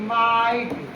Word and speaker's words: might: और एक याद रखना, GST को हम लोग एक साथ में GHT, तीनों वर्ड को हम लोग टा से प्रोनाउंसिएशन करते हैं। जैसे MIGHT, माइट, LIGHT, लाइट, RIGHT, राइट, GHT को टा से पढ़ रहे हैं, ध्यान देंगे ना।